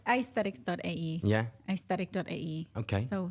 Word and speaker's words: Aysthetics: So I did a wordplay. Okay. I replaced the E with Y. Okay. I'm sure you know why I did So that. it's pronounced your name and aesthetics together. It's actually, it's aysthetic.ae.